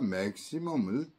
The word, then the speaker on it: maximum: 다음은 maximum입니다. 이거 역시 A에 있어요. 그래서 매에서 음이 공명하겠죠. maximum. 다음 단어는 publicity예요.